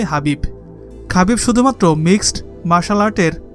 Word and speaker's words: Khabib: কেউ কোনদিন হারাতে পারেনি রাশিয়ান ভাষায় তার নামের উচ্চারণ খাবি শোনা গেলেও তার নামের বাংলা উচ্চারণ হবে হাবিব খাবি শুধুমাত্র মিক্সড মার্শাল